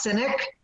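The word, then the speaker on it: Sinek: Mead speak on Simon I think it's pronounced cynic his concept of the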